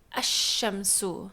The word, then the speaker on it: الشمس: But just to sort of highlight how it changes when you put an alif lam, it changes from shamsun to ash-shamsu.